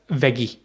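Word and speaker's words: Veggie: और तीसरा आपको कहेगा वेगी। ठीक है, वेगी जो है ये वेजिटेबल से निकला है, वेगी बिल्कुल ऐसे ही है, लेकिन जर्मन में जी जो है वो गे प्रोनाउंस होता है, तो वेगी।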